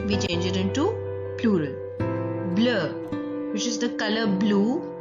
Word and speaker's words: bleu: I'll repeat again that these consonants, the S added at the end of the plural form of the adjectives is silent. We will not pronounce this S. That is why the plural form also remains same in pronunciation with the singular form.